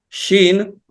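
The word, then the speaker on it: ש: Shin. Shin, I told you it's kind of like similar to the Samech, but it's necessarily the sound of it. It's like SH in English.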